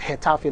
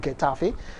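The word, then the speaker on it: Getafe: Yes, it's called Hetaf, not Gafe.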